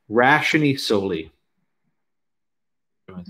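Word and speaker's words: ratione soli: The doctrine called Rationi Soli. I'm going to say it. Rationi Soli. It's spelled R-A-T-I-O-N-E.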